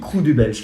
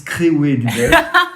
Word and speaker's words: Krewe du Belge: Oui, Crew du Belge. Les Wallons, ils disent Créoué du Belge.